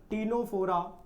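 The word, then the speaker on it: Ctenophora: उसके बाद हमने बात करनी है सर तीसरे वाले की, टीनोफोरा, यहाँ सी साइलेंट रहेगा।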